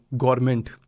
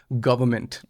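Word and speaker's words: government: गवर्नमेंट एक तो। That's not हाउ you pronounce से। इट्स गवर्नमेंट।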